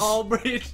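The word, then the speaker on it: Aldridge: Lamarcus is pretty good all ddge rhymes with Bridge like all the bridges all Bridge all Bridge all Bridge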